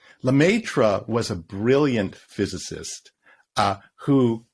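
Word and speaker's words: Lemaître: There was a guy, and I can't pronounce his name. What's his name? Lemaitre? Lemaitre.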